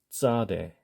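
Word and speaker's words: צדי: 피자 피자 피자 자 정확하게 발음하시면 짜는 아닙니다 짜장면 할 때 하듯이 짜가 아니에요 그렇지만 쌍지읒의 비슷한 소리가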